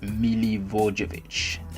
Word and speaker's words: Milivojevic: So at the middle of the park, I went with Eriksen, Romeo, Bernardo Silva, Milivojevic, and Milivojevic.